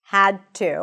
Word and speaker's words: had to: The D turns into a T sound because that's the voiceless version of the D.